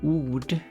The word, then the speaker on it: ord: And then you got Danish, which is the same spelling, but this is pronounced or. Where did this sound go?